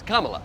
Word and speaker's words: Kamala: name like that how do you say it Kamala no it's Kamala Kamala I don't Kamala came Kamala Kamala there